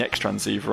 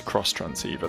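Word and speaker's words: Xtransceiver: with directions from the ex transceiver I could it's cross transceiver that's how it's pronounced but I'm going to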